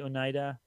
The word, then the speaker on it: Oneida: as you move i suppose maybe yeah uh oneida traveler i suppose you didn't expect to see and am i pronouncing that correctly oneida yeah out this way i am headed west